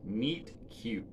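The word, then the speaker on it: Meat Cute: And that says, this particular issue is called, like, the story is called Meet Cute. Except meat is spelled M-E-A-T, like meat.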